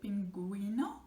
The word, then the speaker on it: pingüino: And the word like pingüino, which is a penguin, again, you don't say pingüino, you say pingüino, gui sound, because it's again, it's from the little dots over the U, which make it pronounced.